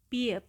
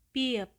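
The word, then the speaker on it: 비읍: Selanjutnya konsonan tunggal ke-6, namanya adalah biep, biep, biep. Dan pelafalannya mendekati huruf B. Jadi bunyinya adalah b, b, b, b.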